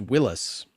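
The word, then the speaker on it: Willys: Because that's where it's pronounced Willis.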